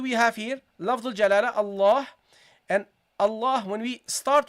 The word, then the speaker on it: Allah: Okay, there is alif in pronunciation, not in writing. We never write this with lafdul jalala, but we pronounce it always. We say Allah. You see, we prolong Allah. We prolong the fatha.